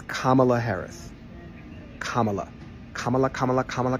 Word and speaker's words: Kamala: It's Kamala Harris.